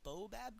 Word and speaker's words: baobab: Even if it's putting in like one of those baobab tree? Baobab tree? Baobab? Exactly, I pronounced it correctly.